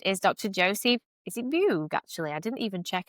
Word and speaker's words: Beug: Is it Bug? Actually, I didn't even check how to say your surname. It's It's Bug. In German, it's Boy, but in American it's Bug. So, there you go.